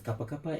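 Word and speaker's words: Kapa Kapa: their location actual location at gapa Kapa uh which they pronounce as kapakapa and then they started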